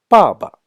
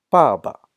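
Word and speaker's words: 爸爸: And 爸爸. The tones are different. Same pronunciation. The tones are different. 爸爸. The second ba doesn't have any sound, doesn't have any tone.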